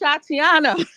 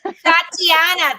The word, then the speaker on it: Shatiana: Girl, open your mic and tell me how to pronounce that. It's Shatiana. Shatiana.